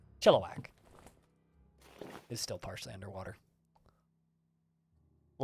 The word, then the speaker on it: Chilliwack: is convinced is pronounced chili whack which is how it's spelled but that's not how it's said chilliwack is still partially underwater